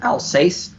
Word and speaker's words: Alsace: called um a-l-s-a-s-e I don't know how to pronounce it Alsace uh it's for an ordinance from 1561 on